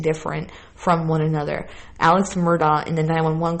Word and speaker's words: Murdaugh: his son and Maggie, it sounds to me like he's saying Murdaugh, dog. And I heard Paul say it like Murdaugh, like I'm saying it. So listen, Murdaugh is D-O-C-K.